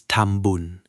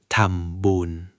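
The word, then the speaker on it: ทำบุญ: In Thai, we call this tambun. Phonetically, tambun.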